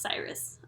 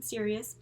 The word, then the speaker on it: Sirius: I have to apologize it's pronounced Cyrus okay so sorry I've been saying Sirius but in my defense is spelled serious okay it's si RI u.s.